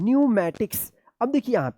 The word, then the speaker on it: pneumatics: अब देखिए यहाँ पे PNEUMATICS क्या पढ़ेंगे? न्यूमैटिक्स। क्या पढ़ेंगे? न्यूमैटिक्स। यहाँ पे भी पी साइलेंट है, न्यूमैटिक्स।